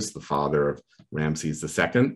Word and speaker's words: Ramses: So then what you can do is take those names, and names in ancient Egyptian, like Ramses or Ri-a-ma-se-sa, is actually a little sentence.